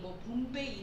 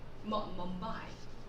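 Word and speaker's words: Mumbai: 자, 인도의 수도를 우리가 봄바이, 봄베이 이렇게 알고 있는데요. 이 영어 발음으로 하면요. 봄바이, 멈바이, 예, 멈바이라고 합니다.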